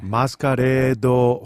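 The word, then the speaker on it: マスカレード: 소개해 드리겠습니다 매스커레이드 호텔 요게 일본어로는 마스카레도 호테루습니다 그러네요 정확한 발음이에요요 작품은 그 작가 대비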